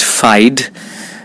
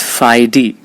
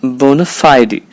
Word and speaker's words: bona fide: believe that it's pronounced fide but it's not it's Phi D remember the primary stress is on the syllable Phi bona fide it's a boner bona fide bona fide the secondary